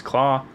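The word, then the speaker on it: Klaue: get the vibranium from Ulysses Klaus, as it's spelt, Santa Claus.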